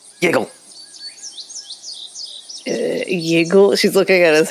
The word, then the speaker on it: Yiggle: My Jiggle! Not Jiggle, Yiggle.